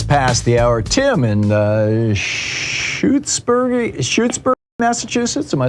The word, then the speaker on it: Shutesbury: Tim in Shutesbury, Massachusetts.